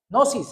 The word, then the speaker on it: gnosis: Gnosis es que se dice, pero uno como que no la puede pronunciar primero una G y después gnosis, ¿sí?